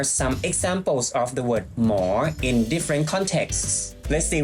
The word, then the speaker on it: หมอ: And there's also a Mor Shit BTS station. As I mentioned before, when you pronounce the word, you have to say it with a rising tone for more, not more, okay?